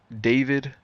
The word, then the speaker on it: D4vd: But apparently that mean or his name is pronounced David who was like an